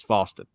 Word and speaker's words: Faustin: If you want a good look at that, I think Kinsley Faustin, who was on his, it's not Faustin, by the way. I've been saying his name wrong. It's Faustin, who was on his official visit this weekend.